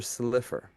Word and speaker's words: Slifer: Roger Slifer. It looks like Silver, but it's Slifer.